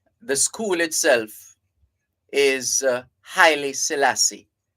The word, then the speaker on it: Haile Selassie: near three miles the school itself is uh highly Selassie not hail Selassie we have a tendency to pretty top and say hail Selassie it's highly Selassie that's the correct pronunciation so after the crowning